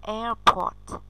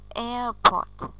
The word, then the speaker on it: airport: Chỗ này bạn đang bị đọc sai trọng âm này. Khi cô nghe đọc thì chưa thấy trọng âm nhấn vào âm nào. Nhưng mà trọng âm của từ sân bay này sẽ nhấn vào âm số 1.